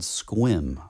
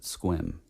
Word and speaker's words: Sequim: was come to find out that it's called squim. I guess they pronounce it squim.